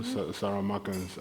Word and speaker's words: Saramaka: So Saramaka, you know, Saramakans. I don't know how to say it in English because I don't really say it in English that often. But in Surinamese, we say Saramaka.